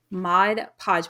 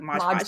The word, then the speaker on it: Mod Podge: we used Mod Podge I always say it wrong it's Mod Podge but I always want to say like Mod Podge Podge me too um